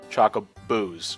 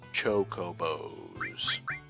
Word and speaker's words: chocobo: when I first played Final fantasies I always pronounced them as like chocobos Chaka Boos even though there's no there's there's clearly no